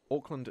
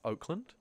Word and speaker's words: Auckland: Auckland is just how NZ pronounces Oakland.